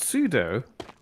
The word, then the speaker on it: pseudo: the the tling happen Ted happened pseudo is pronounced pseudo says wolf fan you probably knew that Mia